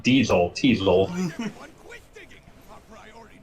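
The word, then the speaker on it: Teisel: Teasel. Everyone quit digging. Our priority now is to get Rhymes with Diesel.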